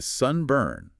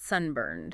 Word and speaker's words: sunburn: The stress is on the first syllable. It's SN burned. Sunburn, not sunburned.